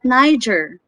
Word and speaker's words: Niger: But Niger, Niger. So some people mispronounce this as Niger or Niger because this is letter G. Without knowing, it's Niger.